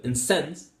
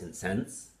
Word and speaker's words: incense: So the word incense, pronounced as incense, is a verb. Well, that is correct. Because if it's a noun, it would be incense.